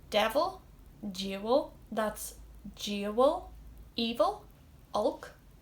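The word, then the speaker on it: olc: Evil, Ulk, so like Hulk without the H.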